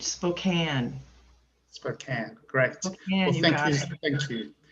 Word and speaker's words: Spokane: And yes, you did say it right, Spokane.